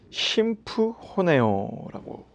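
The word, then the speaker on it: συμφωνέω: 이 합심하여는 이 헬라어로 심프호네오라고 읽습니다. 심프호네오. 즉 같은 소리를 내다라는 뜻이에요.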